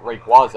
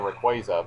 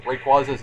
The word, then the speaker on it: Rayquaza: I had been pronouncing Rayquaza's name uh wrong for well an extremely long amount of time apparently the official pronunciation is Rayquaza yeah the Y is silent apparently but I did not